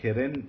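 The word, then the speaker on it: קֶרֶן: word karen okay again keren is a bisolubic noun simply because it is accented in the first syllable um and that's the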